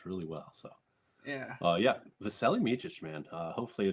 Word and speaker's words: Vasilije: How do you pronounce his first name? Vasilije, but he goes by Vasa. Oh. I know all these because I watched tape. I thought it was Vaseline, how to say his name.